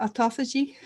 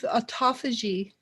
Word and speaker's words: autophagy: and how do you say that word maria autophagy yeah because of autophagy which means auto feed which you eat your